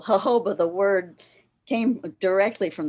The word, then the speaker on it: jojoba: removed eventually um okay with the emphasis on the full first syllable jojoba the word came directly